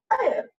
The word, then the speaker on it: heir: be pronounced is, not H should be completely silent in that.